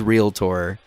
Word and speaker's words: realtor: But the realtor commercials that they put on, they're like they emphasize realtor so hard. I mean, it's such a strong emphasis on the tor because they don't want